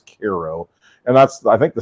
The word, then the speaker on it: Cairo: piece on Koo Illinois it's spelled like Cairo but everybody says Koo and that's I think